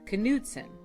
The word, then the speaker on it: Knudson: forebearer of our name knudsen norwegians do pronounce the k our name literally is